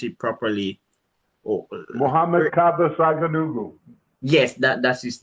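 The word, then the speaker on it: Muhammad Kaba Saghanughu: give the name of the slave let me pronounce it properly Muhammad Kaba Saganugu.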